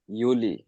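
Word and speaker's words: Juli: আমরা ইউনি এতক্ষণ ধরে আপনি জুনি আর আর ঝুলি পড়তেছি ও না না আমরা তো ইউনি আর ইউলি পড়েছি ভাইয়া আচ্ছা ঠিক আছে আর কারো প্রশ্ন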